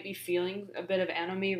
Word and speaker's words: anomie: So this is pronounced anomie.